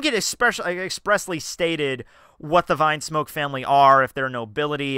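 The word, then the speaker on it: Vinsmoke: some references on the vinm smoke family or what I I hear is the it's pronounced Vine smoke like wine smoke and hey that makes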